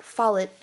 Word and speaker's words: Follett: According to his website, it's pronounced Follett, similar to wallet. Ken Follett is one of the world's most popular novelists.